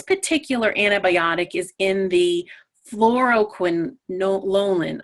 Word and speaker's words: fluoroquinolone: antibiotic is in the fluo quinolin I can never say it properly so it's the pronunciation is fluo quinan okay and this particular